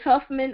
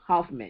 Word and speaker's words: Hoffman: with my married name they usually put bonds or barns or vaughan this huffman i'm like it's a oh hoffman even when i spell in